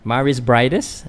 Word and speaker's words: Mairis Briedis: Mairis Briedis.